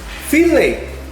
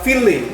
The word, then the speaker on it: fillet: Saya pernah memberikan ini ya, yaitu fillet. Pronunciation-nya adalah fillet, bukan fillet. Walaupun ada huruf T di belakangnya, karena ini bahasa berasal dari Prancis.